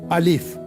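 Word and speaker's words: ألف: सो the first alphabet is अलीिफ। अलीिफ you pronounce like me अलीिफ।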